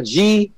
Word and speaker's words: Guelph: It's like, sounds like you're puking. It's like, wow. Well, you know, it's like Ralph. It's spelled a G-U-E-L-P-H.